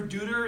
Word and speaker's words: Dutter: And it's like, there's only two possible ways you can pronounce my name, Dutter or Dutter, and technically both are correct, so I thought that guy just gave up a little too easy.